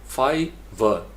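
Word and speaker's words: Fiverr: इसी तरीके से फाइवर, फाइवर, ये 2 सिलेबल है, अप व 2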